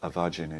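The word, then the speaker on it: A' Mhaighdean: Avagin is the Gaelic pronunciation, and in fact it means the Virgin.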